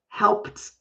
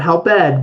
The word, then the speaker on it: helped: So it has a T sound at the end with the ED. Not help ed, but helped out. So it's kind of like, it's kind of silly to say that, but helped out. But if I say it quickly, I might say helped out, helped out. But it's like a light T if I talk very fast in English.